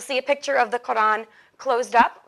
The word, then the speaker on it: Quran: muslim holy book the quran it's pronounced with a sound that we don't have in english so you usually will see it spelled like that k-o-r-a-n quran it's the most sacred